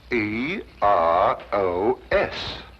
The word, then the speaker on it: Eros: influence of Cockney stagehands she added an H where there shouldn't have been one what then spell it as she spelled it but without the H e r o s precisely and here he is Cupid the Greek god Eros with his broken feet oh I see